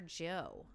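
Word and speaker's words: Gieaux: On the Instagram, I got a DM from this guy called Motor Joe. Motor Joe. And it's spelled G-I-E-A-U-X, like Joe, like all French and stuff.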